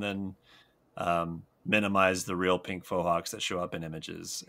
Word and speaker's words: Fohawk: Just Google us and then minimize the real Pink Fohawks that show up in images. And we are second or third in line there. And by the way, it is Fohawk, not Faux.